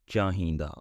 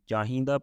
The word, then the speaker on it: ਚਾਹੀਂਦਾ: Anyway, so there are three pronunciation, and I'm gonna use chahinda pronunciation because that's what I used.